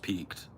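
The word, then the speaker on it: piqued: a common one it's not peaked okay it's pronounced peaked but the word is pi IQ u e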